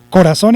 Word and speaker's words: corazón: Primero, ¿corazón es una palabra aguda o no? Respuesta, sí es una palabra aguda. ¿Por qué? Porque porque tiene acento en la última sílaba.